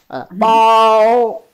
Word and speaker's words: 炮: Pow. Here, pow. Pow. And this is pronounced as pow. As a fourth tone.